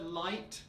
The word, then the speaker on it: light: them just slightly differently with the word light make sure that you don't turn into the diphthong until the very end of the word and with the word